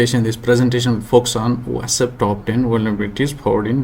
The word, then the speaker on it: OWASP: How you pronounce it's up to you or me. It's OWASP.